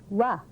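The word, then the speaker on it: は: yellow character it's written like that and it's pronounced wah and it is a topic marker and its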